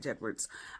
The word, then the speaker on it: J. Edwards: Another one is J. Edwards. I always call him Jedwards because it's spelled J-E-D, Jed Words. It just helps me remember it.